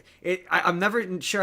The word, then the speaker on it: Neve: it's it I I'm never sure how to pronounce it cuz I my brain always wants to put in an R. So it's Nerve Campbell but I think it's Nev Campbell.